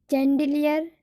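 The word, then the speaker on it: chandelier: बट कुछ ऐसे शब्द हैं जहाँ पर सी एच का उच्चारण श होता है। जैसे शैग्रीन, चैंडिलियर, सीमेज है ना, तो इसमें सी एच का उच्चारण श होता है।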